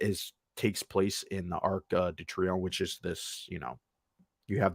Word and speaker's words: Arc de Triomphe: Now we have the arc de tree de tree. I just had the pronunciation. I'm gonna have to hear it again. Arc de Triomphe. Okay, that's how you say it.